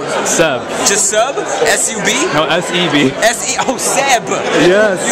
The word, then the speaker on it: Seb: No, S-E-B.